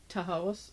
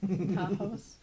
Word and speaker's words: Tahawus: This new community was first known as the Lower Works, but then became Tahawus. Oh, I just mispronounced it. Tahawus.